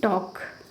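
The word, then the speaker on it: talk: पे, sorry टॉक नहीं, टॉक इस तरह से, ठीक है, टॉल्क होना चाहिए, एल का भी साउंड होना चाहिए, लेकिन हम यहाँ पे लॉ को क्या कहते हैं, साइलेंट वर्ड मानते हैं और उसका उच्चारण नहीं करते।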